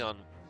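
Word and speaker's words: アン: Her real Japanese name, Anne Sasha, is a corruption play on Ansatsu Susha, which means assassin. The name Anne, pronounced on in Japanese, is considered particularly culturally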